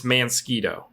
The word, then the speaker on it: Mansquito: to it several times Lindsay says it's mansquito because that's the proper way like a mosquito a